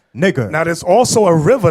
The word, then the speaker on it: Niger: Simeon, that was called Niger. Now you see that in Africa. You see that map right there? You see, right? It says the same way. It's spelled the same, y'all? Say the same.